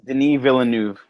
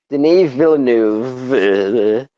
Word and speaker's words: Denis Villeneuve: The only thing for me was, all right, so how do you pronounce the director's name? I always fuck it up. Denis Villeneuve. Denis Villeneuve.